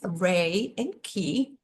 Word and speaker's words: Reiki: Pronounced Rei and Ki.